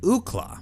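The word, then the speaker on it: Ookla: the acronym on signage, the phonetic pronunciation leapt to mind. Why not call him Ukla?"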